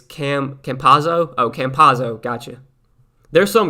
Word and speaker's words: Campazzo: No EO, it's Campazzo. Oh, Campazzo, gotcha. There's some guys I don't know how to pronounce their names, and I just kind of do the best I can.